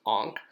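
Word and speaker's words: ankh: with the symbol for sandal tie pronounced ank and then adding the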